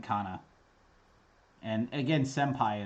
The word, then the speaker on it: senpai: n kana and again senpai is probably the most obvious example right um yeah i never really thought about it until i've always pronounced it with the m but i never really thought about why i'm doing that um yeah it's never occurred to me so yay it was